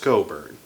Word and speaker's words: Cockburn: And before you even say it, I know it doesn't look like it's pronounced like that, but just trust me, it's pronounced Cockburn. Don't feel too bad, I've made that mistake myself.